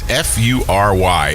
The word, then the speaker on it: Fury: say it right it's fu ry and it's they say think of furious so it's fury water adventures yeah I got it right it's not furry adventures its fury water adventures